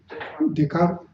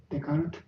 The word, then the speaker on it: Descartes: talked about this is the writing by Rene Descartes. This, how do you pronounce his name? Descartes. Descartes is correct.